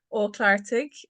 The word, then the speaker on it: Ó Clochartaigh: episode and today I am joined by Trevor or claric did I pronounce that right Trevor yeah you did yeah